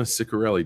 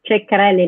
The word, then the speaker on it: Ceccarelli: we are now live and I have Ciccarelli done did I pronounce that right no it's pronounced Rick Carelli like China oh I've seen it the wrong